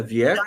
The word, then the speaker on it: Wiecko: que foram abertos eh ela viec eu tô pronunciando certo o seu nome é viec vi tá certíssimo tá é tanto fác eh